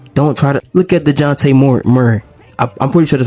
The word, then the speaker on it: Dejounte Murray: Don't try to look at DeJounte Murray.